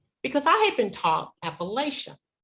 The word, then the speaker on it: Appalachia: He said, oh no, that's what outsiders said. You know, we call ourselves Appalachian. And I thought, oh, these poor people, they don't even know how to pronounce the name of the region.